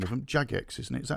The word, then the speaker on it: Jagex: audience here from what's the name of them jagex isn't it is that how you say it